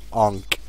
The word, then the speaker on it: Enc: I never called him Bonk. It's Onk. I was kind of spelling it the way that people say Ank when they use the resurrection on Skeleton King. People call it Ank, but I've always pronounced that Onk, and now I'm pronouncing his name Onk.